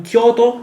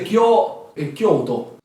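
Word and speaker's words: Kyōto: Quindi è Kyoto. Kyoto. Sì, Si però, scrive Kyoto. però comunque ricordiamo che si legge Kyoto. senza la O. Semplicemente quell'allungamento fatelo sentire proprio leggero. Cioè non è Kyoto, è Kyoto. Kyoto.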